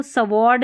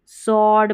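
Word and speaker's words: sword: और इसको सवॉर्ड नहीं सॉर्ड पढ़ना है, और इसको भी जैसे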